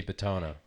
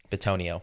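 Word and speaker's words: Bitonio: You're probably not going to see Betona. Betonio.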